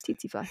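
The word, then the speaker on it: tsetse: Yeah, it's titly.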